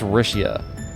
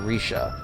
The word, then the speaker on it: Rixia: I think it's Rixia. Trying to remember the pronunciation, because I assume it's a Chinese pronunciation. X is a sh sound, so Rixia. Or Risha.